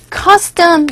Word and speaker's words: custom: 지금 여기 나온 costume 이거 costume 이때 co에서 o 사운드가 아에 가까운 발음으로 들려서 costume라고 발음하시면 되겠고요. 이 단어 custom 이거는 custom이죠.